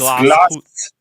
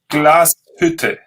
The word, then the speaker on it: Glashütte: You're spelling it now with sh, which is wrong. It's Glashütte. Glashütte.